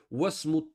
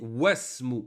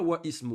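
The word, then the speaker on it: واسم: Et ici, wasmu. On ne dit pas wa ismu. On dit wasmu. On fait la liaison.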